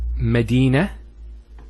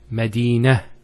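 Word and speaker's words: مدينة: Here the word is Medina and Khadija. Notice one thing, I didn't mention the ta. I actually pronounced the ta marbuta as a ha. Medina, Khadija.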